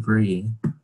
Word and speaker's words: Briss: Bryce, I'm not sure if I'm it's actually pronounced Brie. Oh cool, it's a silent S.